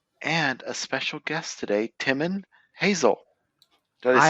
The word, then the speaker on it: Timon Hazell: And we also have the Karl Storm and a special guest today, Timon Hazell. Did I say it right? Welcome. You got it. Timon Hazell.